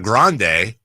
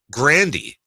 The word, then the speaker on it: Grande: with is actually tigan Ariana Grande same thing said it's Ariana Grandy but they just didn't